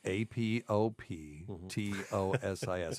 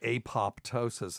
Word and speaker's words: apoptosis: a word that means programmed cell death it's a p o p t o s i s we talked about this on the show before